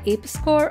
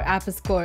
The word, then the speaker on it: Apis Cor: It's owned by Apis Cor or Apis Cor. It can be pronounced either way.